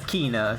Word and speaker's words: Quina: Quina. That's Kina, yeah, or Quina. Quina or Kina, depending on how you pronounce it, and it is a she.